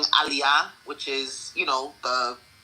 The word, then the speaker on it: aliyah: There are certain words everybody knows how to pronounce. So instead of saying aliyah, which is, you know, the naturalization process in Israel, she kept saying, uh, what did she say? Allayia.